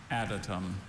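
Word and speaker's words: adytum: Additum. Additum. Are there any alternate pronunciations?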